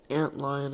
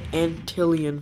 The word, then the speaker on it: antlion: Let's get a antlion out here. I kept pronouncing it Antillion for some reason. That's literally not even how you pronounce it.